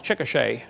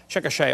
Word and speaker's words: Chickasha: 2005 textbook, and I pronounced it wrong, it's Chickasha, not Chickasha, Chickasha, Oklahoma.